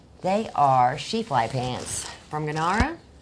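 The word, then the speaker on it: Gnara: Uh, they are Shefel pants from Ganara, right? I don't know. Don't know if I'm saying that right, but um G N you can probably say N, but G is silent.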